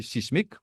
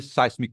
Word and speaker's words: seismic: En fait, prononce ça seismic wave. Moi, parfois, je prononce sismic. Mais, sur vraie prononciation, c'est seismic waves.